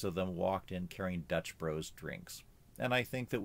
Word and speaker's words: Dutch Bros: in Oregon where I live we also have Dutch Bros and that's the way that they pronounce it it's not Dutch Brothers now when I was in high school nobody